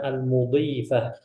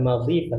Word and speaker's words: المضيفة: Qabla an nutarjima, sebelum kita menerjemahkan, huna la budda an ta'rifu, antum harus tahu al-hiwaru baina al-mudhifah. Bagaimana cara kita membacanya? Al-mudhifah bukan madhifah ya.